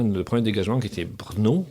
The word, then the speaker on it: Brno: premier dégagement qui était Brno, que je prononce je prononce bien, BRNO.